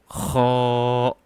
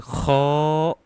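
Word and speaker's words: خ: Next, kho. And kho also comes from your throat, so upper part of your throat, and it's simply not kho, no, it's kho, kho, kho.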